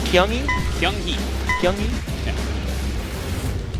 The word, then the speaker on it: Kyunghee: Kyunghee. Kyunghee? Yeah. Nick pronounced it with a G, and I was like, that just doesn't sound right at all. It's kind of like a softish G.